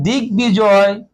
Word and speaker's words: দিগ্বিজয়: এখানে যেমন দেখতে পাচ্ছেন দিগ্বিজয়, দিগ্বিজয়, তার মানে বড় উচ্চারণটা স্পষ্ট এখানে হলো, চতুর্দিকে জয়।